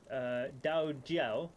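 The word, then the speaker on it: 道教: to the Chinese being Dao Jiao. In Mandarin and certain classical Chinese, the D isn't a voice sound, thus the 2 pronunciations.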